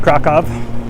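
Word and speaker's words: Kraków: guys who don't know krakow is pronounced krakov the w is a v and for all of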